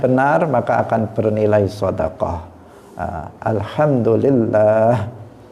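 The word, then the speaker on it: الحمد لله: maka akan bernilai shodaqoh Alhamdulillah panjang level jalalah nya di tengah itu panjang bukan Alhamdulillah tetapi Alhamdulillah itu cara membaca yang benar ini penting untuk kita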